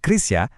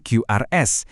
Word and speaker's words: QRIS: Kata QRIS itu bacanya Krisia, bukan QRS. Biar sesuai dengan standar KBBI kita.